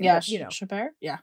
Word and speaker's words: Chabert: kept very true to Lacey, I can never pronounce her last name. Yeah, but, you know, Chabert? Yeah. Chabert.